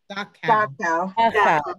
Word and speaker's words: Dachau: Dachau, D-A-C-H-U, what's the correct pronunciation, that concentration camp? Dachau.